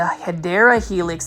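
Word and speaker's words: Hedera helix: this is everybody's favorite this is the HRA helix or what you would say the hyera Helix that's the correct way to say it this English IV is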